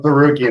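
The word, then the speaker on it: Tsarukyan: Oh, Sarukian.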